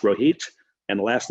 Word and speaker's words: Rohit: His name is Rohit. It's pronounced Rohit, and the last name is Chopra.